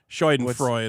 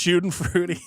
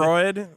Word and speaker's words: Schadenfreude: I just know right now somebody in the comments is going, does Vito actually think Schadenfreude is pronounced shooting fruity?